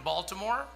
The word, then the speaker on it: Baltimore: I was born in Baltimore, and hey, that's not every day that you hear.